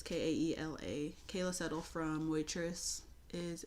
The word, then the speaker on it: Kaela: I'm assuming you pronounce her name Kayla. It's Kaela.